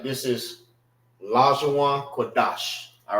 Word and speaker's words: Qadash: Qadash, Salaki. Qadash. So it won't be Da Sha. It's Dash. Dash. Pronounce it together.